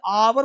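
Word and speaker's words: hour: आवर्स आवर्स आ है इसे हॉरर नहीं बोलते हॉर्नर नहीं बोलते हियर नहीं बोलते बोलते हैं आर ऑनर एयर अब देखो आवर घंटा ऑनर इज्जत समान एयर मतलब उत्तराधिकारी यहां पे एच जो है वो साइलेंट है एच का प्रोनंसिएशन नहीं होता है यह ध्यान देना है साइलेंट रहता है।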